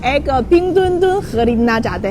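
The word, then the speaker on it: 冰墩墩: वो खुसूसी गुड़िया है और इसका नाम है पिंगदुनदुन। आप सही तौर पर प्रोनाउंस कर सकते हैं, मेरे साथ पढ़े पिंगदुनदुन।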